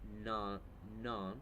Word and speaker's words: Nant: It's LES, like Les Jardin. It's like JARDIN, DU, non, but it's spelled NANT. So go and look for them on Facebook, on Instagram.